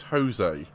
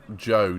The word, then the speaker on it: Zhou: Kira said, who's Jose? I said, Zhou. Jose? Zhou Guanyu. Zhou. Yeah. Or Joe, depending on how you want to pronounce it.